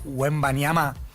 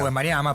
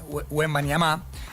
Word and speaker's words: Wembanyama: Lo que hizo Víctor Wembanyama, porque él se encarga de ponerle el acento a la última, es Wembanyama, la pronunciación que le da el propio Wembanyama decimos. Nosotros decimos Wembanyama, pero es Wembanyama.